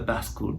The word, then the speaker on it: bascule: pronounce it is the Bascule Bridge, or it comes from French, or they call the Chicago style bridge, where there's a counterweight and the bridge opens up.